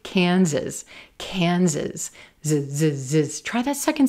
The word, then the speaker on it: Kansas: Kansas, Kansas. Z-z-z. Try that second syllable with me. Z-z-z. Yes, our S's are going to sound like Z's here.